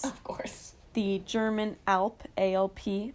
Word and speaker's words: Alp: The German Alp, A-L-P. I think that's how you pronounce it, right? Like the Alps.